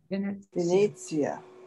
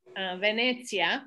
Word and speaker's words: Venezia: So the E is pronounced always like the same way. Venezia. A lot of people say like Venezia, Venezia. And I'm like, no, that's not second. This isn't an I, it's an E.